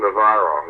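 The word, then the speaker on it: Novarro: But Ramon Navarro, how do you pronounce his name? Navarro? Ramon Navarro, yes, who was died a horrible death.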